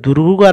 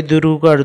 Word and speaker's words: দূর: করে টানতে হবে দয় দুরুকার দু র দূর এর উচ্চারণটাও আমরা একটু টেনে পড়বো দূর বোর্গের জল জল